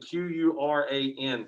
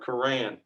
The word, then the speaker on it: Quran: difference of right here all right so spelling q-u-r-a-n pronounced quran okay so the idea i'm sorry koran if you go through you go back and